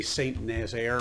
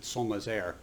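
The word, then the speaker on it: Saint-Nazaire: of san nazaire in france we would say saint nazaire or saint nazareth but they pronounce it somas air um smashed through the glass roof of the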